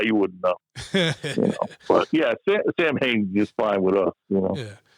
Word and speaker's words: Samhain: When we were kids, we always called Samhain, and then you always got these motherfuckers that want to be, well, the real pronunciation is Samhain, So what did you guys used to call it?